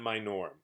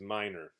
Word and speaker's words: minor: here minor minor minor it's not my norm if you say mine or or me nor that's not quite right so I just wanted to point that out pronunciation is minor minor all right thank